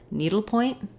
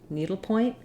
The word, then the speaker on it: needlepoint: Then when I add it to point, needle point, needle point, I go right to the P of point. Letters OI say the oi diphthong, like in boy or soy.